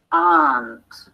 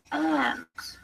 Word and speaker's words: aunt: If your mother has a sister, she is your aunt or aunt. The pronunciation of aunt is British English.